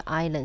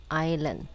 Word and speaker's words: island: 因为 island 是母音开头。那 island 这个地方有一个字没有发音哦，s 打叉没有发音，island。